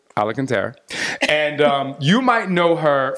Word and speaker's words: Alacantara: I like to pronounce her last name Alacantara, but it's Alacantara.